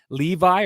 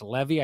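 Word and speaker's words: Leevi: And I'll be honest, the entirety of the game, Levi, or I actually think it's Levy, I think I was saying it wrong on the broadcast, Levi Merrilainen, looked extremely vulnerable to me all night.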